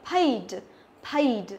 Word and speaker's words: paid: Không phải đọc là paid mà là paid, paid.